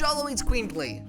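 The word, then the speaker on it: Xoloitzcuintli: It's pronounced Sholo's Queen Ply.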